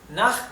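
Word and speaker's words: nach: es bien sencillo na naj es a o hacia bien na Recuerden que la ch del alemán se pronuncia como una J del español verdad na naj significa a o hacia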